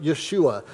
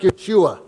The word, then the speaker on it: Yeshua: it out the word the angel said was something like yeshua my hebrew pronunciation isn't awesome but it was something like yeshua which sounds more like joshua it should because it